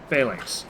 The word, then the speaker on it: phalanx: Google pronunciation says you're correct. Phalanx.